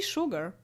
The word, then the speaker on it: sugar: I see sugar. Don't I see sugar? It's just sugar. Rhymes with cougar.